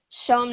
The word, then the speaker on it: CHOM: I was 12 yeah Sean 97.7 Montreal show but it's spelled chom yeah oh my god